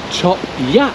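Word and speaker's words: Chop Gate: that's another easy one ch gate it's actually chop yat chop yat chop yat and how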